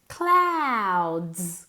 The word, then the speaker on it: clouds: Clouds. Como si fuera una A. Como Claudia. Cloud.